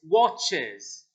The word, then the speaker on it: watches: So it's watches. Watches. Like a Z at the end.